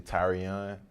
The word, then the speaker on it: Tyrion: to be called kai tyrion um it's actually tyrion that's how you pronounce it that's how you it's that's how